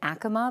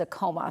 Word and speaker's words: Acoma: Apparently it's always been Acoma, but everyone says Acoma. So just so you know what we're talking about, it's Acoma.